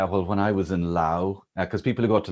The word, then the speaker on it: Laos: The French took them over, but it's Laos, okay? And I'll be corrected now, and somebody says, actually, the A in Laotian is pronounced with a U. Anyway, doesn't matter, right? It's not Lao.